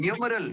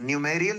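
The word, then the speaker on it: numeral: न्यूमरल। न्यूमेरियल नहीं बोलते इसके। न्यूमरल।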